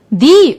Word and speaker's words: the: the book The Orange you would have noticed that I pronounce the differently yes if the is before a noun that doesn't start with a vowel we say the but if it is before a noun that starts with a vowel we say the so we say the vegetable but the animal now let's do some